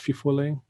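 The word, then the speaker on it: fifolet: Has anyone ever heard of the fofole? Sometimes it's pronounced fifole.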